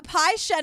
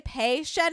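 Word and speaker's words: Pei-Shen: how do he say p Shen is Right sometimes people say pay Shen in this but uh I Googled and it can go either way so I think it's but I think it's p Shen how do you say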